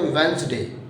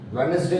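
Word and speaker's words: Wednesday: जैसे कि इसमें देखो जरा, इसको पढ़ते हैं वेंसडे, वेडनेसडे नहीं, इट्स अ वेंसडे। It means D तो निकल के ही नहीं आ रहा, वेंसडे, NES से साउंड क्रिएट हो रहा है, वेंसडे।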